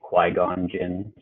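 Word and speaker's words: Qui-Gon Jinn: me is compelled to say that it's actually Quon Jin qu Qui-Gon okay well I don't want to mispronounce people's names but thank you for that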